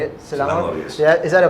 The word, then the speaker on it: Selangor: Selangor, yes.